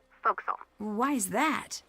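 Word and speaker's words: forecastle: ship but it's pronounced foxel why is that try pronouncing it like an english sailor with no formal education faux castle foxel over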